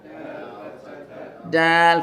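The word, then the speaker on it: د: Dal fatha da. Next one is dal. It ends with an L sound, dal.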